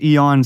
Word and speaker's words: Aeon: you get into that yeah um Eon or Aon uh Steve Bannon and on Aon he's the boss so maybe we should go with that but the proper pronunciation is Eon so I will go with that by the